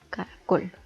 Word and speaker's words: caracol: Esta palabra está dividida en 3 sílabas y la sílaba tónica recae en la última sílaba, caracol.